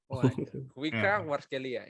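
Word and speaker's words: Khvicha Kvaratskhelia: Gue bingung bacanya gimana. Kevika Kvaratskhelia. Kuica Kvaratskhelia.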